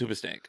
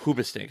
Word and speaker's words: Hoobastank: It's the H is silent. It's Oobastank. It's not Hoobastank.